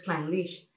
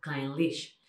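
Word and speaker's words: Clynelish: Por ejemplo, tenéis Kleinlich, que sigue, como veis, el mismo, se acentúa al final. Aunque si lo leemos, Kleinlich, en ningún momento pensamos que puede ser una palabra que se pronuncie de una manera tan corta, Kleinlich.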